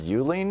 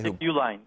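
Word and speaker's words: Uihlein: an illinois industrialist richard you lean isn't how it's pronounced he's the guy uline uline okay he's the guy who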